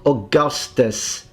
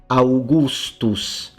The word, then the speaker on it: Augustus: It's a fully pronounced u, always. Not Augustus, Augustus, Augustus.